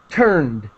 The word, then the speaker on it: turned: And turned, D sound very quickly.